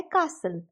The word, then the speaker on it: castle: Next pronunciation आती है American English वाली। इस प्रोनाउंसिएशन में सेकेंड सिलेबल जो सल है उसकी प्रोनाउंसिएशन सेम रहती है, लेकिन जो फर्स्ट सिलेबल है उसकी प्रोनाउंसिएशन में थोड़ा सा डिफरेंस आता है। जैसे हम यूके में का बोलते हैं, इसमें क्या बोलते हैं, कैसल।